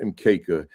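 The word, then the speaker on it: mkeka: ma right everything is in kisuahily and it's pronounced mka and when you have a quanza display when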